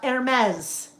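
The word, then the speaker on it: Hermès: Uh, Hermes. So, H E R-S, the fashion brand. It's Hermes, not Hermes or Hermes.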